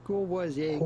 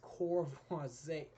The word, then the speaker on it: Courvoisier: But it'd be fine in English or American if you cannot pronounce the French R, which can be quite tricky, to simply say Courvoisier cognac. Courvoisier cognac, but in French again, Courvoisier.